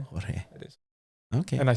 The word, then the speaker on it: Jorge: The official pronunciation is Jorge. Jorge. It is. Okay. And I spell it like that too. Yes. Yeah. So thank you, Jorge, for Jorge Alonso.